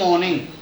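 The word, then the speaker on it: morning: David roams on the road in द मॉर्निंग, इन द मॉर्निंग। यह जो मॉर्निंग शब्द है जिसमें ऑलरेडी आर साइलेंट होता है, मॉर्निंग, गुड मॉर्निंग यानी आर साइलेंट होता है।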